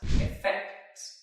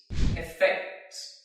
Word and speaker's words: effect: means an impact or a change it is pronounced as effect you can repeat effect effect effect for example number one the medicine